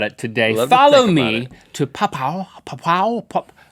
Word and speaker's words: Papua: Follow me to Papua.